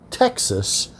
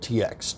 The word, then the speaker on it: TX: we're looking at tx texas straight bourbon whiskey that's tx straight bourbon whiskey i've also heard it said are pronounced tex i like to go with just the good old tx tx straight bourbon whiskey